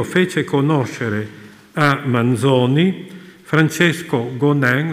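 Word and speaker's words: Gonin: conoscere a Manzoni Francesco gonen lo pronuncio così perché il cognome è delle Valli Valdesi che nel 1833 aveva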